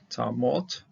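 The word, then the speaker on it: תָּמָת: Tamot, this is a kamis hatuv, you have a closed syllable, and without an accent, and if it doesn't have accent, closed syllable, the comments here will be an O.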